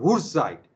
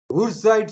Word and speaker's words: Wurtzite: There is another type of ZNS called Wurtzite. In German, W is pronounced as V. Wurtzite structure.